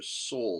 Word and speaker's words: Seoul: to the left of seoul that's how you pronounce this name right here seoul south korea they attacked oops oh fat fingers